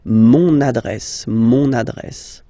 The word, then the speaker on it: mon adresse: You can hear now this little link, so you've got to pronounce this N, mon adresse, okay?